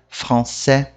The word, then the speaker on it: français: O S não se pronuncia em francês. Esse é um que causa bastante confusão. Porque a gente vê ele lá, a gente quer falar ele. Mas em francês não fala.